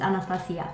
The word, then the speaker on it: Anastasia: anastasia beverly hills is i'm always trying to pronounce it the english way but realistically speaking she is romanian and romanian i'm gonna say anastasia no more anastasia beverly hills it's anastasia for me so one thing you